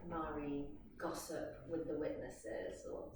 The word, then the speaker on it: Mari: But once I had the names, sort of constellation of names, Mari came last, when she spelled Marie, I pronounce it Mari after someone in my studio, not naming no names, of course.